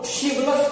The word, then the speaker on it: chivalrous: इसे CH का ध्वनि न तो अभी च है और नहीं तो इसका ध्वनि क है, बल्कि इसका अन्य प्रोनाउंसिएशन है वह है श, शिवलस। यहाँ पे R भी साइलेंट हो चुका है और H भी साइलेंट हो चुका है, इसलिए CI इसका प्रोनाउंसिएशन होता है शिवलस, शिवलस।